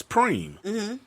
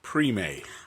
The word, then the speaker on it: preem: like you know supreme short for supreme is preem but he's pronouncing it pre-made oh no and i